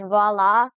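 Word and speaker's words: voilà: Is it just me or is va spelled like viola but just said differently?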